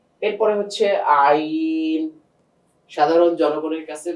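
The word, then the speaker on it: عين: এরপরে হচ্ছে আইন। সাধারণ জনগণের কাছে বা আপনাদের কাছে সবচেয়ে কঠিন যে হরফটা লাগে, আইন। গলাতে একটু চাপ দিয়ে বের করতে হয়, আইন, হলকের মাঝখান থেকে।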